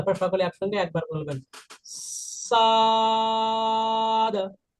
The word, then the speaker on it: ص: সদ ছা আর দ এরকম এই যে ছাই বা ফালা আর এখানে দ সাদা সদ এটা এটা হবে সাদ